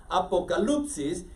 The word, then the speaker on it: Apocalipsis: griego ustedes encuentran que revelación es Apocalipsis Okay así se pronuncia Apocalipsis y de ahí viene